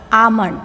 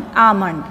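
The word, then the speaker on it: almond: let's read the words Amon first one Alon Amon L is not sounding in this word in this word L is a silent letter L is not sounding amond so second word wday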